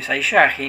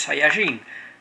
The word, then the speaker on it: Saiyajin: Resulta que, obviamente, yo dije Saiyajin y estaban todos enojados porque lo pronunciaste mal, boludo, es Saiyajin.